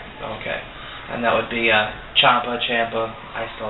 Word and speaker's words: Ciampa: I do believe it's Ciampa, not Ciampa. No, he pronounces it Ciampa.